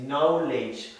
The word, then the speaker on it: knowledge: Donc, on ne prononce pas le K, donc c'est knowledge.